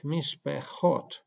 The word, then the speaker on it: mishpechot: So in this case, we have mishpechot. The first shewa is silent, because it is preceded by hirik, and hirik is a short vowel. And the second shewa is pronounced, is vocal.